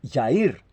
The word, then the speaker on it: Jair: Johnny cuando usted escribe también Jair en portugués no es Jair es Yair cuando usted escribe eh